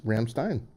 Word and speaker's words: Rammstein: I&E in german mm-hmm you always pronounce the second letter mmm always okay so rams Rammstein Rammstein I with an eye because it's II I right hmm interesting